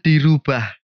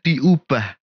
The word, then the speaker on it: diubah: dengar dan baca adalah kata merubah dan dirubah yang bener adalah mengubah dan diubah karena kata dasarnya adalah ubah penutup nih untuk dua